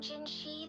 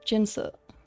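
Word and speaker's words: Jinhsi: the magistrate of Jingo I think think they that was not the correct pronunciation and also um in Chinese you would never have in and then H unless it was like Jin if they're pronouncing it ginshi then it should have been Shi but I don't know in this case it should be jinsa as the moon chasing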